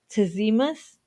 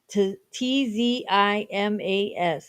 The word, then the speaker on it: Tzimas: And do you recall how you said Tizimas? I think that's how it is. It's Tzimas.